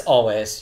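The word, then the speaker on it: Alvvays: That's always. You don't Always. pronounce the V's. Always. Always. Always. Read the V's like a W.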